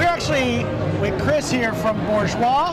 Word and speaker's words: Bourgeois: know all right so i was told there is an r in bourgeois sort of yeah you lean into it right bourgeois yeah and dana's gonna